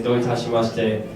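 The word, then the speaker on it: どういたしまして: There's a word called doitashimashite. It means you're welcome. So if someone says to you arigato, then you can say doitashimashite. And the easy way to remember that is don't touch my mustache.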